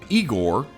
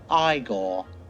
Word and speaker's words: Igor: Igor? No, it's pronounced Iiggore.